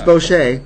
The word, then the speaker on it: Boche: Uh Bosch. Boch. As if it were French. All All week we've been saying Kin Boch is coming, but it's Bocher.